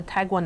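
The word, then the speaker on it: tagua: it's a carved nut it's called a tagwa nut oh for beat sakes I'm actually not try to pronounce it it's t a guua and it's wonderful for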